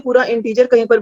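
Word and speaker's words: integer: ठीक है, इसको इंटेगर नहीं पढ़ना किसी ने। फाइन। बच्चे बहुत गलतियां करते हैं, गलत प्रोनाउंसिएशन करते हैं, इसकी वजह से किसी को समझ नहीं आता कि आप क्या बोल रहे हो। इसकी प्रोनाउंसिएशन है इंटीजर।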